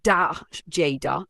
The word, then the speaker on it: Dagda: Who is the Dagda? The Dagda, pronounced D Jada, is one of the most powerful and beloved gods of the Irish toa Danan.